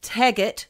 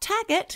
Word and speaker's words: Taggett: of our many researchers alistair tagett not taggett yes i know why